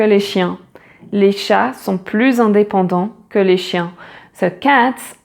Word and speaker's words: plus: Les chats sont plus indépendants que les chiens. So cats are more independent than dogs. So here, plus indépendant. Again, the liaison, and here you pronounce the final S like a Z, plus indépendant.